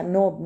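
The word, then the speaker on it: knob: Design कोई भी design जैसे अच्छा नोब नोब में के साइलेंट है।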